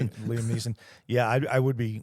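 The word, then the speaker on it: Liam Neeson: You'd be like Liam Nielsen. I'd be walking her through Liam. I said that name wrong. Liam N. Liam Niss.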